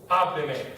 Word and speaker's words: hábleme: Here, this that stressed A, where we need to stress, it's the third to last syllable because we've added a pronoun. So guess what? We have to mark it. Hábleme.